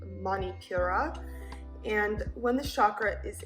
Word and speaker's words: Manipura: it's called the solar plexus chakra in sanskrit pronounced manipura and when the chakra is in harmony we